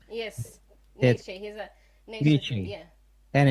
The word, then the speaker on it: Nietzsche: Yes Nietzsche he's a Nietzsche yeah.